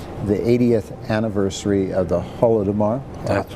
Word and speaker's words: Holodomor: 2012 to 2013, the 80th anniversary of the Holodomor. That's right. Did I pronounce that correctly?